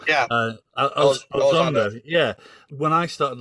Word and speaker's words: Elizondo: I always get the name wrong. Yeah, Elizondo.